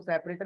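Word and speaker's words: sep: तो सेपरेटर pronounce को सेपरेटर ही करेंगे बट जब लिखते हैं तो एस ई पी लिखते हैं।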